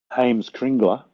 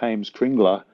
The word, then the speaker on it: Heimskringla: But if people want to search for Heimskringla in English, I'll just spell it for you. It's HEIMSK RINGLA.